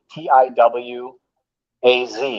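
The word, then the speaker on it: Tiwaz: the real name of the rune is two tiw a z is the way it's pronounced and written in pro or germanic but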